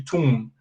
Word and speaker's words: tomb: say like this because you don't pronounce the b and you say tomb so you say tomb